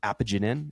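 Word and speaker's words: apigenin: found I think it's apagenine.in. Apagenine is the right way to pronounce it.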